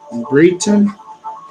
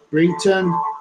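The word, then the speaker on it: Brighton: Britain, the G-H is silent, B-R-I-G-H-T-O-N, Britain, United Kingdom, is where this UFO happened.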